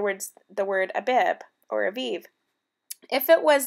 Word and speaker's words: Abib: At the approach of spring, the barley fields carefully planted months before would be constantly checked to see if they were Abib, pronounced Aviv.